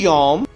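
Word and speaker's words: יום: और हब्रू भाषा में दिन को कहा जाता है यम। इंग्लिश में स्पेलिंग कुछ इस तरीके से होगी वाई ओ एम यम।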